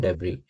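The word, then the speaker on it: debris: Synonyms इसके हो जाएंगे डेबरी। इसमें साइलेंट होता है। तो इसकी प्रोनंसिएशन होती है डेबरी या रैकेज।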